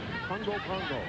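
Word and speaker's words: Pago: 5'10", she's a senior out of Pongo, American Samoa. It's spelled P-A-G-O, but it's pronounced, I'm told, by the Samoans, Pongo.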